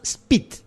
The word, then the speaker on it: Szpyt: Los hermanos Spit, Juan y Lucio Spit. Se escribe SZPYT, no tiene vocales.